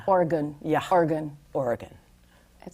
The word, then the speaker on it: Oregon: If you don't say Oregon, when I first got out there, I thought you have to pronounce all of the vowels because the vowels are lovely.